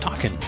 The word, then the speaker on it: Takin: And apparently it's pronounced Takin.